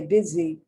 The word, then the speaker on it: busy: busy now here's again the s is not pronounced s the s is pronounced like the z so you say busy so even though it's